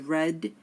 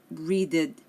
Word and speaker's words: read: becomes eight read becomes red it's spelled the same but we just pronounce it a little bit differently we do not say